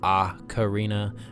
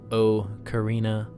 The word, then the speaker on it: ocarina: a projecting mouthpiece and for those torn on pronunciation it is aa Carina not oh Carina merriam-webster's online dictionary sets the record straight so back to the